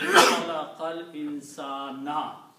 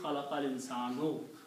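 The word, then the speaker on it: خلق الإنسان: The combination of the two words will be Khalaqal Insana. You will not speak Khalaqal Insanu. Khalaqal Insana.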